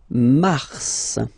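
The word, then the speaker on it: mars: then Mar okay so in a way it's an exception because normally final s is not pronounced in French okay we've got some exception and this one is one of them so Mar pronounce the final s mar mar okay then ail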